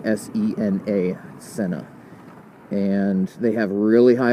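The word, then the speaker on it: Sena: Senna I think I'm saying it right s-e-n-a Senna and they have really high ratings they're fairly affordable they seem like these are rugby girls they're kicking butt and uh rugby branches cool but yeah the Senna they they make some good stuff and a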